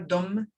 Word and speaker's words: Dum: Dum is a beautiful bija mantra, Dum, D-U-M, but pronounced with the soft sound, Dum, Dum.